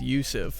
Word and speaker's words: Yousef: uber driver guy and he told me my name was i was mispronouncing my name this entire time it's yousef and i was like